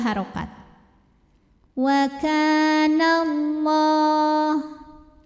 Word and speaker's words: Allah: Wa kana Allah. Lam pada lafaz Allah atau lam jalalah dibunyikan secara tafkhim, sebab huruf sebelumnya yang nun berbaris fathah. Maka cara bacanya ditebalkan, pangkal lidah kita diangkat. Wa kana Allah.